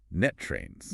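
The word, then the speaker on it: NTREIS: Which, for those of us operating in this specific local ecosystem, is proudly pronounced net trains. Right, net trains. You have to hit that rust sound at the end, right?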